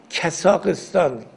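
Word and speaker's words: Қазақстан: و قرقیزستان اینا هم چون ما اینجوری تلفظ می‌کنیم خود اونا میگن کسااقستان این کس این همون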